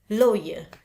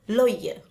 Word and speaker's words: lawyer: Lawyer. Tulisannya AW tapi dibacanya lawyer. Oke, bukan lawyer.